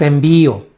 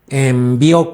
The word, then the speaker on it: envió: su voluntad número tres aquí puse la palabra envío envió no es envío envió con acento en la o quién te puede enviar